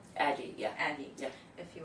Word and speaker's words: Addyi: Is it pronounced Adgi? Aggie, yeah.